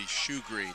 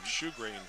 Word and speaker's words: Sjogren: Robbie Sjogren in there covering Mills on the punt. That'd be Shoegreen. Shoegreen is the way that's pronounced. There's a long history of Shoegreens in Rifle. S-J-O-G-R-E-N. Yep, okay. Shoegreen.